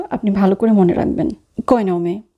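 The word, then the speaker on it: cognome: কয়নমে, এখানে কিন্তু জি আর এন এই দুটো বর্ণ মিলিয়ে উচ্চারণ হচ্ছে নিয়া। এখানে জি উজ্জ্ব থাকবে।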